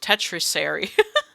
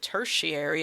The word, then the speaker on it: tertiary: It looks like tertiary or tetris almost. Tetrisary. Tetriary, but it's not that. It's a tertiary.